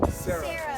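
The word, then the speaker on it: Cero: Sarah. C-E-R-O. Oh, zero. Sarah. Sarah Mac. Like how they say it in Spanish.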